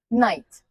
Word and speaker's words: knight: Night. The K is silent but knights are loud.